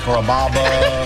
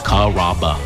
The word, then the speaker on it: Carrabba: People chop it up pretty good. You know, Carrabba, Carababa, Caramba. It's a really easy name to pronounce. It's Carrabba. Come to Carrabba's for dinner.